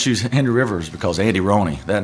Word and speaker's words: Andy Rhoney: And this episode we have Andy Rooney. Yes. And his ultra ego Henry River. You got that right. You pronounced it right.